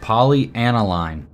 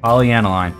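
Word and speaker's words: polyaniline: like is it here yeah sweet one more poly analine that's how you say it poly analine that's it we totally nailed it and it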